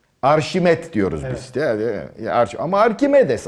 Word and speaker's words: Arkimedes: Ama Arkimedes adamın adı, Arşimet değil. Fransızlar onu Arşimet diye okuyor.